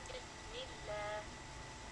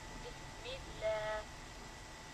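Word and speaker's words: بسم الله: For example, Ismullah, Abdullah, but if it has a kasra before it, we make it soft, make it thin. So we say Bismillah, Bismillah, and even though it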